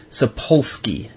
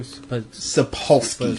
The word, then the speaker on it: Sapolsky: I can't pronounce his last name. It's Sapolsky.